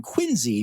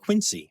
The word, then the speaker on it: Quincy: The other ones took place in Quincy, Massachusetts. It's spelled Quincy, but you can't call it that. You got to call it Quincy.